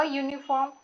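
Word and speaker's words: uniform: अ यूनिफॉर्म, यू का वाई यू ऐसे होता है, इस प्रकार।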